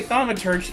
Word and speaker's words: thaumaturge: Apparently thaumaturge is how you say it.